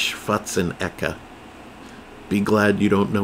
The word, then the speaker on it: Schwarzenegger: Yes, you all say his name wrong. It's not Schwarzenegger. He's not Jewish. It's Schwarzenegger.